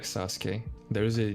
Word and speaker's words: Sasuke: way same way like sasuke there is a there's a u between the s and the k but it's not pronounced gotcha uh the redhead